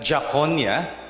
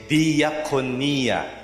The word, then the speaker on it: diakonia: See, you don't pronounce it that jakonia. Gagalit yung mga Greeks kapag narinig na yan. But you say diakonia.